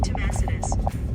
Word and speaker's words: Tomasita's: Tomasitas. Yeah, Beauty says it right. I don't say it right. But I definitely say it better than Siri does.